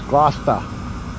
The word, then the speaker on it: Gloucester: they certainly are This Cloud Chester is how it's spelled but it's lost it's announcing it if you're from there it's Gloucester at least the Gloucester in the U.S you